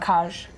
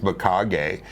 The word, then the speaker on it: Mikage: I'd I rather thought it say, was Macaj. yeah, I know. We're just going to title this video Cat and Trevor pronouncing things Arnold wrong. corrected me and said, you're saying it wrong. It's Makage.